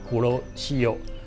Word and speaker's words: Kuroshio: 称呼它，它就叫库罗西欧那库罗西欧当然是日语的英文读音。